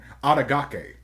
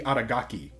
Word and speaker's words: Adagaki: When Masamune Makabe was a child, he was rejected by a rich, beautiful girl named Adagake. I pronounced that incorrectly. Aki Adagaki, who gave him the nickname Piggy for being overweight.